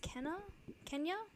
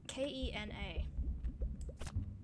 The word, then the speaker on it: Kena: Is I think it's pronounced Kenya? Not the country. I haven't been hearing anything about the country, but Kena.